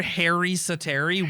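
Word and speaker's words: Harri Säteri: We're saying that right? Yes. Is that how you say it? I heard Harri Satari, but I've heard that's boring. I've heard Harri Sateri way more.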